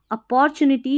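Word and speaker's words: opportunity: यहां पर टी यू को टू नहीं पढ़ना है। चू एन आई नी टी वाई टी। अपॉर्चुनिटी या अपॉर्चुनिटी।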